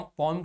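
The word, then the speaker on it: poem: in this stanza, इस stanza of द पोम, पोम के इस स्टेंजा में, इस वर्ड का सही प्रोनाउंसिएशन पोम होता है, पोम, पोम यूं बोलता,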